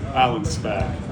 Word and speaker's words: Allenspach: Allenspach, but like a Spach.